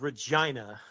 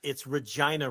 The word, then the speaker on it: Regina: It is Regina. To super serve, not super severe. Rich. I don't know why I said super severe. Super serve. It's Regina, Rich.